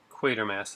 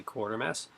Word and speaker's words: Quatermass: And as you can see, we have Blood from the Mummy's Tomb, Quatermass in the Pit. Many people actually mispronounce that and say Quartermass.